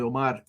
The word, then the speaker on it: Omar: Like everybody mispronounces it. It's actually Omar.